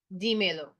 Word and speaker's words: dímelo: Tell it to me, dímelo, right? And an accent on the I to hold the stress.